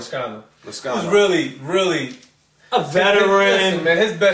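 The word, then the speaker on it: Lazcano: How do you pronounce the last name? Lascano.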